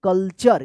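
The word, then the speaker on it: culture: तो इस टी यू का च उच्चारण होगा। कल्चर।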